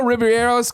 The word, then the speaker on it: Ribeiro: Number 1, Alfonso Ribeiro's fails. I'm always so I don't want to say his name wrong.